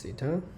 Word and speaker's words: Theta: it's it's the capital city so this is Theta so we are going to show that firstly